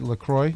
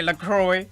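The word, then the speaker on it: Lacroix: how you pronounce it I guess it's lacro lro but a lot of people say lroy okay well that's okay because I'm like s spelled like St Croy it looks like it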